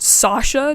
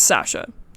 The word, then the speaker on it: Sasha: his files and yes I'm calling her Sasha I know that I am pronouncing every single other character's name with an American accent but Sasha just sounds straight up incorrect to me so her name is Sasha fight